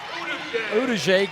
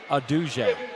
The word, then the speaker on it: Aduje: And quite a bit of that was with these subs as Uduje gets the basket. Excuse me, Aduje. There's been a big argument over how we pronounce his name, and it's Aduje. Aduje and Martinez both have